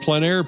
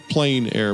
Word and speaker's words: plein air: In the Planair podcast, we dive into the world of outdoor painting called Plenair Painting.